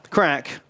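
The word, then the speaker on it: craic: yeah what's the crack crack that's like Irish for what's uh what's cooking good looking what's happening what what are you what are you doing down there uh why you making that noise but it's spelled differently c c r a i c crack Crick CRI what's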